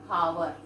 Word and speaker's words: hour: We never say hour.